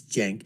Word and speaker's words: Cenk: basically want to tell sank and I know how the name is pronounced it's Jen but you know I call him sank anyways from The Young jerks